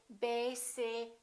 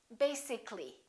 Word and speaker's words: basically: it has two syllables if we add a LLY we don't say basically this a disappears so the a is not pronounced and we say basically take a look at